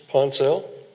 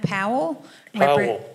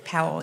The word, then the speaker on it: Powell: Last card I have is um Miss Ponel. Am I pronouncing that correctly? And would you be so kind as to identify yourself for the record, please? Good afternoon. My name is Powell. Powell. Yes.